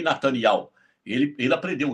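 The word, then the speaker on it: Netanyahu: Portugal, da Europa ali, elas não falam Iarro, como é a jornalista brasileira, elas falam ial. Daqui do Brasil, que eu já vi pronunciar o nome correto, só Bolsonaro. Bolsonaro não fala Benjamin Nataniarro, ele fala Benjamim Natanial.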